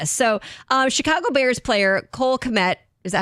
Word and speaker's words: Kmet: Yeah, so Chicago Bears player Cole Kmet, is that how you say his name?